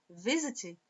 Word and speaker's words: visit: Visit, a força tônica não está no sit, está no V.